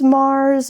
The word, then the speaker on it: Marz: But like I said, my last name is Mars. Mars like the planet, but it's spelled with a Z, which makes it cooler.